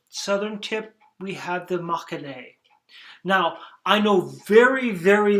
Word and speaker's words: Mâconnais: And here you can see Chablis, Nuits, Mâconnais, you don't say the S, but you put the E at the end, Chalonnaise, and the S gets pronounced.